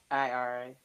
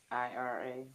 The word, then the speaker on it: IRA: IRA. Oh, say it again. No, I'm dyslexic. One more time. IRA.